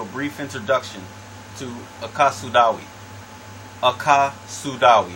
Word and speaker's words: AkaSudawe: AkaSudawe is how you pronounce it, and it simply means, out of the language of Akawu, it simply means universal way of health.